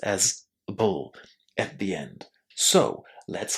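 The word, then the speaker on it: -able: Here it's an unstressed ending. It receives no emphasis and because of that it's pronounced in this very short way as a bull.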